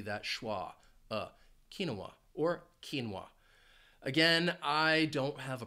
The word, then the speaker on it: quinoa: Bolivia or Chile but the word does have two syllables the stress is on that first syllable quinoa now you might hear it pronounced with three syllables kinoa in which case the stress would be on that second syllable kinoa and that final syllable